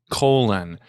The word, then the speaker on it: Colin: put it out there his name is spelled Colin c-o-l-i-n and he insists everyone calls him colon what's the deal with